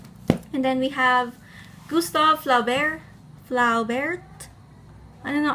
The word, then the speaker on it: Flaubert: And then we have Gustave Flaubert. I don't know, I feel like this name, you see the T, but you don't pronounce it.